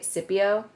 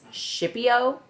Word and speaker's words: Scipio: before Scipio Africanus yes how confident are you that his name is pronounced Scipio not a hundred percent but I don't know that I've ever heard her pronounced any other way okay see Echo with based on her knowledge and then Googling it and stuff apparently some people say Scipio and some people insist it's shippio yeah yeah I'd be